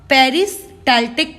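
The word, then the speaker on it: peristaltic: This movement is known as आप लोगों का पेरिस्टाल्टिक मूवमेंट, ठीक है, ऐसे ही प्रोनाउंस करना ताकि तुम स्पेलिंग गलत ना करो।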